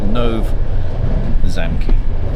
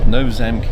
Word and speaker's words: Nové Zámky: tell you now I did actually press the translate pronunciation button on Wikipedia and it doesn't sound too dislike no zamy no zami is where we're heading there's